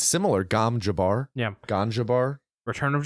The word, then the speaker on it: Gom Jabbar: Gom, Gom, space Jabbar, Jabbar. Okay. Phonetically, it sounds very similar to ganja bar. It's similar. Gom Jabbar.